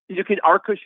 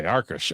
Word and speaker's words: Arkush: I said Arkush. When I look at it, I want to say Arkush. Is that right? Arkush is even better. Okay, Arkush.